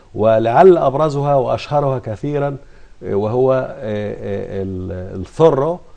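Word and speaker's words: Zorro: أبرزها وأشهرها كثيرا وهو الثرو أو الذي ننطقه هنا زورو.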